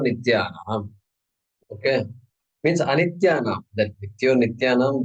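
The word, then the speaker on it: नित्योऽनित्यानाम्: That Nityo Nityanam, the way we pronounce it, but there is a letter A there in between the two. I think you recognize that. All right, Nityo Anityanam.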